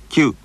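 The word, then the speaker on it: きゅ: Kyu, kyu, yakyu. And if small dots are added after ki, the combination is pronounced like this.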